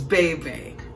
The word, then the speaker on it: Bebe: My name is Bebe. Pronounced with an A-Bay.